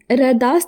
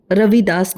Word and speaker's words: रविदास: जिनका पूरा नाम जिनका रविदास नाम था। जो अपभ्रंश में रेदास बोला जाता है। ऐसा बहुत जगहों पर होता है। उच्चारण में परिवर्तन आते जाता है।